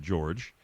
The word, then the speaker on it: Jorge: jorge is with us by the way actually George you spelled like Jorge but he pronounces it George but spell it that